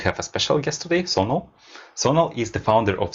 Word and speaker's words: Sonal: we start I want to make sure I pronounce your name correctly it's Sono right yeah very well so it's uh the